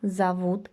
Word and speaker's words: зовут: One of the basic things that you have to know when learning Russian is that O is pronounced as O under stress. When it is not stress, we pronounce it as A, and this is actually visible also in our examples here. Зовут. Although we write O, we pronounce it as an A.